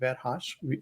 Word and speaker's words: Verhas: most of the places my family name verhas without any accent because originally there is an accent on the letter A in the Hungarian but without any action